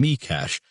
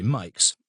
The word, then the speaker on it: Mikes: I used to pronounce my name Mikash, but nowadays most people say Mikes, to rhyme with likes.